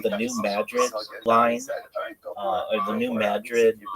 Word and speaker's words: New Madrid: It's New Madrid. Why are you calling it Madrid in Madrid? It's not pronounced like Madrid, like in Spain.